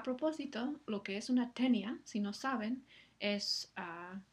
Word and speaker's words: tenia: No, en el caso de tenia, la i no lleva tilde y entonces sabemos que forma un diptongo con la siguiente A, lo cual